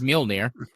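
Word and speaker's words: Mjölnir: Mjolnir. But I don't care. You're pretty close. I mean, the pronunciation is Mjolnir.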